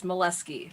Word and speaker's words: Moleski: Oh, no, the way you pronounce it is how you get teased. It's Moleski.